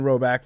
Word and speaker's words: Roback: It's pronounced like Brogan Roback.